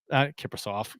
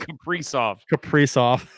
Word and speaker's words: Kaprizov: Kiprusoff, Jesus Christ, Kaprizov. And what's the difference? I put the wrong emphasis on the wrong syllable.